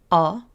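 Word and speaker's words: ㅓ: This sound can resemble the ending sound in saw or any AW sound. Your mouth will be a little narrower when making this sound. Try it with me. Aw, aw.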